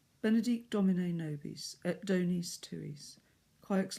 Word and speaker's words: nobis: Sometimes, very often I hear nobis, and even worse, nobis, but it's nobis.